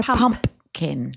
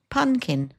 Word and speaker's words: pumpkin: They're a pumpkin. A pumpkin. Yeah. Oh, yeah, I realised that they don't even pronounce the second P too.